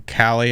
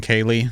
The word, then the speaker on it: Khalie: Wait, are you telling me this whole time she pronounces her name Khalie and I've been saying Kaylee?